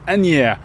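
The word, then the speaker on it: Asnières: maybe yeah she says you don't pronounce the S it's any and then she stopped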